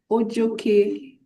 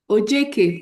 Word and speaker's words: Ojeke: Ojoke. Please permit me to pronounce the name correctly. Thank you. Ojeke. All right, thank you for that correction.